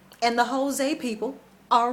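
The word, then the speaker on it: José: they speak portuguese and in portuguese the j is not pronounced as an h sometimes it's a hard j like here in the united states sometimes there's a z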